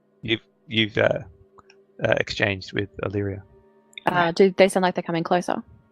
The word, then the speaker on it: Illyria: as you guys are awake the bullet for alaria alaria sorry I'm gonna get that name wrong until it's drilled into my head Illyria so leering that yes the crackle of the